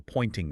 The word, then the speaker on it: Poynting: The critics pointed to something called the pointing vector. I saw that in the source material. It sounds like a pointing finger, but it's spelled Poynting.